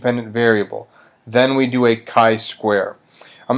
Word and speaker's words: chi-square: to show you is this chi-square test it's pronounced chi-square and we decide to do a chi-square test